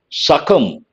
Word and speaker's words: succumb: Succumb, B is silent, an important word.